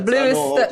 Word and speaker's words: Bleu: traveler yeah yeah yeah The Bluest spell in like the French way yeah I think they're pronounce it like blue yeah yeah yeah that's